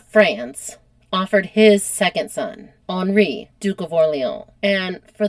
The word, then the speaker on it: Henri: just like to say I pronounced it Henri, not Henry, like I would if I was American. So it's Henry, but in France it's Henri, Duke of Orleans.